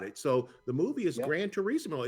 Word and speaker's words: Gran Turismo: The video game Gran Turismo, I don't know if I'm saying it that, Gran Turismo, is that correct? No, you're saying it right, the racing game. Gran Turismo.